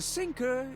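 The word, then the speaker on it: Psync: director and actor the sinker is merely the audience tinker sinker sinker you don't pronounce p he doesn't exist about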